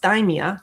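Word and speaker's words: dysthymia: By the end of this you're going to be able to differentiate between major depressive disorder which is dimeia just think of your thigh to pronounce that right which some of you might know as persistent depressive disorder and adjustment disorder.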